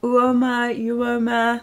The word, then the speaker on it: UOMA: UOMA. It's not OMA because there's not an O before U.